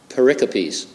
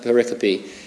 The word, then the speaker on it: pericope: scripture he calls them pericopes yeah they spelled pericope but I think it's spelled it's pronounced paropy and every time I